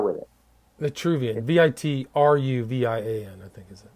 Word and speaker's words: Vitruvian: No, Vitruvian is like V-I-T-R-U-V-I, kind of like virtue. Yeah, virtue. Let me look it up, because in English it doesn't carry the R with it. Vitruvian, V-I-T-R-U-V-I-A-N, I think is it.